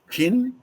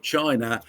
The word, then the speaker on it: Qin: Now, in case you've forgotten, from the state of Chin, pronounced Chin, from which we get Chinese.